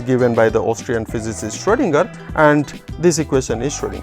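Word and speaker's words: Schrödinger: see that there is there are two dots on top of o this is called o uml out and it is pronounced as if it is o e so s-c-h-r-o-e story lingard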